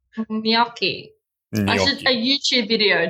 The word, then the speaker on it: gnocchi: I don't know how many we'll have after you tell them that their pronunciation is wrong. Gnocchi.